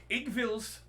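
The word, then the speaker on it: Iggwilv: I read the pronunciation guide for this. Igvil's Cauldron.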